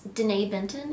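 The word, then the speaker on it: Denée Benton: I felt so, so blessed to see, I believe it's Danae Benton is how you say her name, as Natasha.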